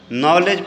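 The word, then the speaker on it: knowledge: देखिए क्या है कि वो व्यक्ति शब्द के उच्चारण में कौन सा अक्षर मुख है नॉलेज पढ़ते हम इसको क्या पढ़ते हैं जी नॉलेज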